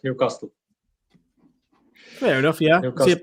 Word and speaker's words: Newcastle: Yeah, because he was saying everybody in Newcastle says Newcastle. Brandon, how do you say Newcastle? Me? Newcastle. Just like Carl, how do you say it, Carl? Pardon? How do you say it? Newcastle. Yeah, it's more better. Whereas I think it's more of a London thing, isn't it? Where they go Newcastle.